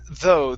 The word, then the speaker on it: though: Instead of though, it's though. The GH at the end are silent.